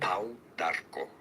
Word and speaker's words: pau d'arco: The Spanish pronunciation, pau, yes, the U is pronounced like an U. Pau. Pau d'arco. Pau d'arco. Pau d'arco. In English, it's rather simply pronounced as Pau d'arco.